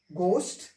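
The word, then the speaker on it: ghost: बाद में ओ क्लियर हा के बाद में ओ आएगा तो हा हमारा क्या है साइलेंट हो जाएगा ठीक है अब इसको पढ़ेंगे गोष्ट इसको पढ़ेंगे ओनर ठीक मिंस होता है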